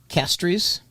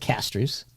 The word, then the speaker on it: Castries: I don't know how they pronounce it I pronounce it Castries in St Lucia oh okay so I I pronounce it Castries okay yeah which I'm sure is exactly how